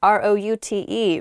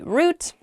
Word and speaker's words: route: next word is root r o u t e root is how I say it you might also hear the word pronounced route root r o u